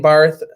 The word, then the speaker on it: Barth: Barth. It's spelled Barth, but it's Bart.